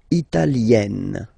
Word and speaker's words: italienne: L'Italie, italien, italienne. Remember, when you get this followed by a double consonant like here, then you will have to open it.